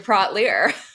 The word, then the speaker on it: Praught-Leer: So we were going to talk about some shoes, and I brought some beers, and then I became Aisha Brought Beer because it rhymes with Aisha Praught-Leer.